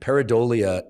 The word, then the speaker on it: pareidolia: this phenomenon um that I don't want to mispronounce because then it sounds like something else but the correct pronunciation is and peridolia is our tendency to